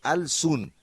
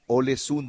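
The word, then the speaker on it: Ålesund: Yo hubiera leído, les escribo desde Alsun, y ella me aclara, se pronuncia Olesun, don Oscar.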